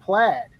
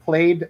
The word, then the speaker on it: Plaid: um for some reason people think it's pronounced played like that's the word look it up in the dictionary that the pattern but